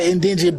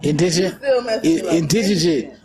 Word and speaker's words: indigent: There's a lot of indigent black people. Did I say it right? No. Indigent? Indigent. Y'all ain't innocent, y'all indigent. That's how I remember. I'm like innocent, indigent. They ain't innocent, they indigent.